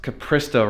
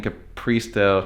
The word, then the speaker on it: Capristo: in there hi Todd I totally realized that pronounced Capristo wrong it's Capristo not Capristo I've been seeing